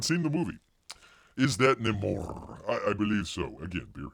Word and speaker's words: Namor: Namor with an R. You got the R, roll your R.